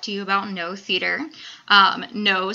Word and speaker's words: Noh: No spelled N-O-H, not N-O.